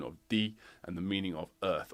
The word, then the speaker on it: 地: create compound words like these it carries the pronunciation of D and the meaning of earth or ground but